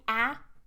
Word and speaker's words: a: be really strong and in natural speech we would reduce it to a schwa is possible to say ah okay if you're really stressing it but it's not necessary